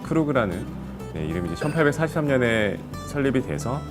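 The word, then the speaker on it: Krug: 그런 프레스티지 큐베가 있는데, 크루그에 대해서 간단하게 설명을 드리면 약간 이제 좀 독일식 발음이죠.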